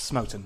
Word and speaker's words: Smoten: It's Smoten, by the way. Rhymes with Snowden.